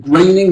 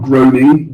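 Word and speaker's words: Groening: pronounce this is it Matt graining graining not groaning graining he's the creator of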